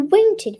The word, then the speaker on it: wanted: There once was a man called Guy who wanted the king to die.